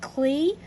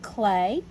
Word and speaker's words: Klee: would print be pronounced cle but you actually pronounce it clay and paul clay was